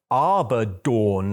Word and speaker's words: Abaddon: which was like um Abaddon and he the way the way the commenter wrote it was like this should be this should be pronounced Arbor dawn like Dawn when the sun comes up and I was like